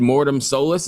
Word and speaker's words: Mortem Solis: say is new record Mortem Solis. Is that how you pronounce it?